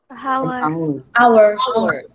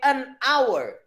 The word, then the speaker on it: hour: Dibacanya apa tuh? Hour. Hanya nggak kamu baca kan? Enggak. Ya. Ya. Nah, dia cara bacanya vowel sounds. Vowel sounds. Sehingga dia pakai an hour.